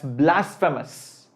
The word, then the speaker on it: blasphemous: who uh believe in god will like that's blasphemous blasphemous m o u s m o u